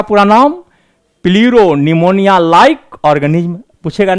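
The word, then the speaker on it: pneumonia: प्लीरो निमोनिया like organism. निमोनिया पी से शुरू होता है, पी साइलेंट रहता है।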